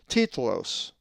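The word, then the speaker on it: τίτλος: Another Greek word that has a lowercase tav is titlos, which means title and is number 5102. The accent is over the iota, titlos.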